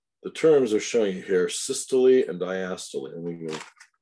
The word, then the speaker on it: systole: The contraction part is called systole. And it is pronounced systole. And the relaxation part diastole, which is pronounced diastole. So you'll hear people say systole and diastole all day long.